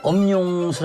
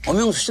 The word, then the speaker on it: 엄용수: 돼요 어 이름을 엄용수 아고 제가 이제 그 쭉 썼어요 이름을 그런데 아무리 엄용 수입니다 엄용 수입니다 이렇게 해도 사람들이 엄영 수씨 모시겠습니다 엄영 수씨 모시겠습니다 계속 영수로 발음하는 거예요 그러다 보니까 우리나라에서 용수